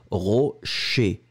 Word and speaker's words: rocher: And the second one, rocher, ché, ché, ché, ché, ché.